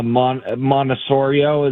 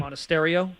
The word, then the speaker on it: Monasterio: much more upside than uh Monosurio. Is that how you say his name? Monasterio. There there's a T Monasterio.